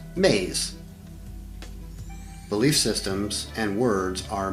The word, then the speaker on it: me: which we will call me's pronounced maize belief systems and words